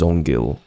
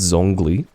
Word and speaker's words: Zongli: It's Zongli. Zongli? Zongli. Let's not actually pronounce the G as if it's separate from everything else. I think it's supposed to be Zong and then Li.